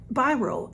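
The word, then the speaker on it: BYROE: So, Biro, everybody says, how do you say that? Blah, blah, blah. Because it's B-Y-R-O and then a backwards E.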